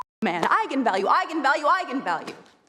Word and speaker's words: eigenvalue: the director said yes that is how you pronounce it so I went out there and said that's right egon value and then apparently the internet went nuts when it came out because apparently it's pronounced eigenvalue that's how you're supposed to say I'm the